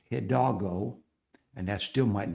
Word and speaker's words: Hidalgo: And I went through the list and I realized that Hidalgo is not Hildago, it's Hidalgo.